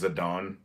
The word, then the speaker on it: Zidane: think and I think I call him zidane I don't care um but the Japanese pronunciation is zadon but the name um